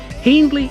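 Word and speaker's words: Hiendley: havocroft with cole hendley hendley is pronounced by the locals to rhyme with fiend although given the etymology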